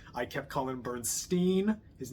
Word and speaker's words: Bernstein: also would like to reiterate my apology for mispronouncing Leonard Bernstein's name so much in that video it's I kept calling him Bernstein his name is pronounced Bernstein I'm sorry I